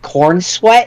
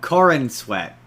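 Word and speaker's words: Corenswet: game a guy named Cornswe. No, no. Corin Corin Sweat. See? Oh, okay. Okay. I kept hearing you say Cornswe and I'm like, that's that's an objectively funny name.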